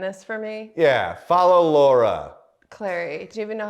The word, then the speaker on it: Clery: yeah it's clearly clearly well people would think it's celery for a long time cuz it's c l e r y and if you just